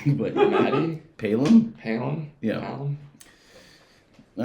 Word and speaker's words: Palom: Well, you might want to say his name correctly, but Matty Palom.